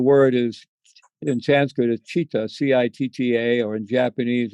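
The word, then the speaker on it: citta: And so the word is, in Sanskrit, is chitta, C-I-T-T-A, or in Japanese it's shin, and it's called heart mind.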